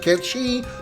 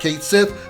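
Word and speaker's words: Cait Sith: Yes, I'm going to pronounce it Ketchi, not Kate Sith, because Ketchi is the proper pronunciation, even though the remake says otherwise.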